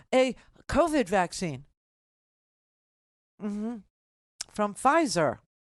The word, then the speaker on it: Pfizer: covid vaccine mm-hmm from Pfizer Pfizer PF okay the p is silent in German okay so uh there